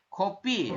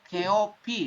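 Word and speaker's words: 커피: Kopi ya. Ini tulisannya keopi tapi dibacanya kopi.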